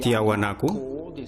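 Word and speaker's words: Tiahuanaco: Si se mira desde arriba por Google Earth, se ve el pueblo de Tiahuanaku. Este es la pronunciación en español y tenemos a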